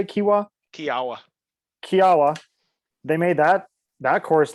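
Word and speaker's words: Kiawah: Kiwa, is that how you say it? Kiwa? Kiawa.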